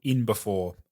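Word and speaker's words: InB4: Yeah, so my supplement brand is called In Before. I N B 4. So it's spelled I N and then B and then the number 4.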